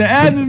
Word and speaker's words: Azzerz: this is my youtube channel your name is pronounced too right yeah all right guys subscribe to azures if you know it's good for you yeah